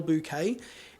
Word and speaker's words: Bouquet: I believe that's how you pronounce it, Carole Bouquet.